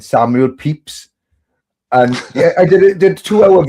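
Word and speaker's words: Pepys: I said Samuel Pep and and and I personally didn't realize right but it is spelled Pepees or looks Pepe and and out of a 4-minute video me talking utter crap someone said then you spelled Pepe you said Pep is wrong as peeps out of all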